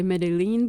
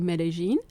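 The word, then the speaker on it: Medellín: we did actually go directly to medin I pronounce it correctly used to say medine but it's actually medine and so we went there first for a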